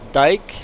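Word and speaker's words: Dyck: In Ontario, they pronounced it Dyke and not Dick. But Manitoba, their Mennonite last name was Dick.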